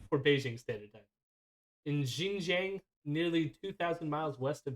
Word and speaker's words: Xinjiang: In Xinjiang, nearly 2,000 miles west of Beijing. No. What? So you do it. Now let's compare. The X is more like a sh, like a Xinjiang. Xinjiang.